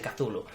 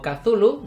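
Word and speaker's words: Cthulhu: ver cómo se pronuncia yo digo kazulu debido a que es como se pronuncia en inglés es decir lo más cercano a lo que fue la forma de pronunciarlo de su autor original y es por lo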